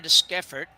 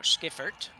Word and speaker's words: Deschiffart: So Emma Deschiffart now, Skiffert, I think is how we figured out we pronounce this.